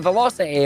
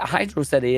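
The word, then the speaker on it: Hydrocity: the logic then they're going to go straight back to Velocity and well that is a cool word and is what the game does it is not how Hydro city is pronounced look it's not my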